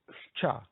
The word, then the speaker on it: Щ: Next letter, Scha, as in washcherry, washcherry. Sch, washcherry. Scha, yet.